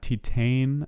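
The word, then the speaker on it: Titane: films of 2021 uh titan i believe is how you pronounce it and another one that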